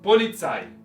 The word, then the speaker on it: Polizei: Y luego palabras extranjeras, la mayoría de ellas tienen el acento en la última sílaba, Polizei.